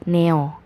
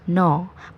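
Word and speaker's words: 너: banget dari tugas kalian kalian bacanya neo neo itu salah total jadi bukan neo tapi melainkan no penjelasannya meskipun sehuruf coiny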